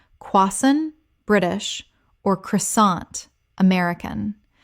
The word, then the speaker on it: croissant: Common mispronunciation, quassant or crossant. Correct pronunciation, quassan British or croissant American. The T at the end is silent. This word comes directly from French.